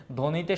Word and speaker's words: ধ্বনি: বলি সবদেশ বলি না তারপরে জ্বালা এটা কিন্তু জাবালা বলি না সাপদ সাবাপদ বলি না ধ্বনি বা হচ্ছে ধবনি বলি না স্বামী সাবামি বলি না তার মানে ব এর